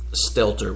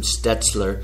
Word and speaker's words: Stelter: I mean, sometimes he calls him Stelter, which I believe is the correct way to say it. Sometimes he calls him Stetzler. Mm-hmm. Sometimes he calls him Stetler.